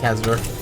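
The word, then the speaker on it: Casadare: Kazador. It should be just Kazador.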